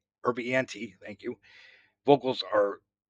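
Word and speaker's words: Urbinati: Rob Erdich, yeah, I can't pronounce his last name. Urbianti, thank you.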